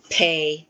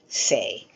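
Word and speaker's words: פ: The presence or absence of the dot only affects the way you pronounce the word. So Beit, Veit. Kaf, Kaf. Pei, Fei. So is it a P or is it a F sound?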